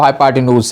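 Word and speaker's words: hypotenuse: कोई इसको प्रोनाउंसिएशन में फ़र्क हो जाता है, कोई हाइपोटेन्यूज पढ़ता है कोई, लेकिन जो प्रोनाउंसिएशन जो है वो हाइपोटेन्यूज है।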